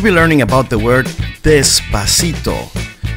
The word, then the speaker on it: despacito: In Spanish, do the o doesn't have the sound o, but it sounds like an open o despacito.